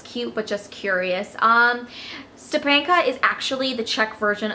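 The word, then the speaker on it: Štěpánka: Stepanka is actually the Czech version of my name, Stephanie. It's not really pronounced Stepanka, it's pronounced Stepanka.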